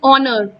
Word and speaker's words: honour: For instance ऑनर, HONOUR, इसमें H silent है।